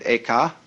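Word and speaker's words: 慧可: The second was named Eka, I'm using the Japanese pronunciation, who was formerly a general of the army.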